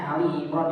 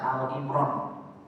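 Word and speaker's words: آل عمران: Allah berfirman dalam surat Ali Imran, ya ini bacanya Ali Imran ya Pak ya, jangan sampai dibaca Al Imran. Dulu pernah saya dengar ada MC, akan kita bacakan surat Al Imran.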